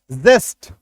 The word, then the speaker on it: zest: जेड का उच्चारण देखिए, जेड का उच्चारण क्या होता है? ज होता है, ज नुक्ता के साथ, है ना। जेस्ट, ZEST, जेस्ट, जिंक, जू, जिप, जीरो, जिब्रा, जिगजैग। अभी देखिए, अगर सिंपली जॉ